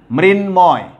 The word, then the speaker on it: মৃন্ময়: মৃন্ময়, খেয়াল করো, মৃন্ময়, এখানে সব জায়গায় তুমি খেয়াল করে থাকো, ময়ের উচ্চারণ অবিকৃত আছে, এখানে ময়ের উচ্চারণ, এখানে ময়ের উচ্চারণ, এখানেও ময়ের উচ্চারণটা অবিকৃত রয়েছে, অর্থাৎ কোনো ধরনের পরিবর্তন কিন্তু হয়নি।